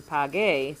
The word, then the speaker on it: pague: So this GU is making the G in pague sound just like it did in pagar. If we took away that U, it would be paje, and the G would sound more like an H.